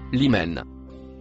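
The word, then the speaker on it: لمن: Le mot violet marron, se prononce, limen.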